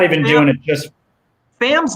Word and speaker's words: Pham: Pham? Is that how you pronounce it? P Tommy Pham? Yeah. Pham, yeah.